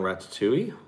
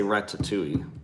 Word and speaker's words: Ratatouille: to be going on Ratatouille. I say, John laughs at me because I say Ratatouille instead of, he says Ratatouille. I pronounce the T a little bit more for some reason.